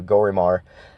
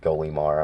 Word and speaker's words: Golimar: Actually, he was in the last video, Gorimar. And I know it's actually pronounced Golimar.